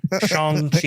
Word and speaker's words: Shang-Chi: Shang-Chi.